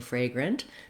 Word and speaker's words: fragrant: e at the end so i've rewritten the first syllable fray with the letters a y it is just like the word fray so if that helps you to visualize that when you're saying fragrant that may help you correct